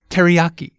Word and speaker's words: teriyaki: Okay, first the English pronunciation. Teriyaki. See how we stress the yah syllable. Ah, now can we hear the original Japanese pronunciation? Each syllable gets the same amount of stress.